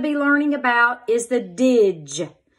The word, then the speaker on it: dge: You will cross out the D and the E because it is silent. And you're going to put our little dot above the G because it's going to make the J sound like giraffe.